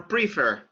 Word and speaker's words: prefer: Because the stress goes on the second syllable. The stress goes on the second syllable. So you don't say prefer. What do you prefer?